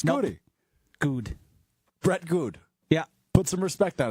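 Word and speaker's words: Goode: I mean what Josh you don't pronounce the e at the end of his name it's good yes goody no just like Brian gun it's goody good Brett good yeah put some respect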